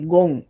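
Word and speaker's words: Ghon: hablar nosotros de el foco de Gón. Se escribe con G, G-H-O-N.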